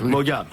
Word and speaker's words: Maugham: Mais comme si vous hésitiez et que vous ne vouliez pas envoyer la dernière syllabe. vas-y refais. Somerset Maugham. Voilà. Bon. Très bien. Tu enlèves Somerset. Tu le supprimes. Tu fais simplement Maugham.